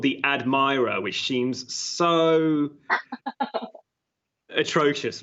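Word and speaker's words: Admiror: we should say that it's spelled something like a d m i r o r so it's not Admiral sense but it basically is admirer right it's almost mirror it's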